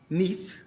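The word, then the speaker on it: NIEF: All of these are members of the National Identity Exchange Federation, pronounced NEIF, so NEIF, and they're members of our group today.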